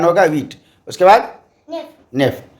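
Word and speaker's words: neuf: और next wheat, okay, WEET, spelling है HUIT French में, इंग्लिश में उच्चारण होगा वीट। उसके बाद नेफ, सो NUHF नेफ, ठीक है?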